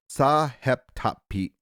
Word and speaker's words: Sahetapy: You're just showing me off with your pronunciations, aren't you? And Ray Sahetapy. Yeah. Sahetapy.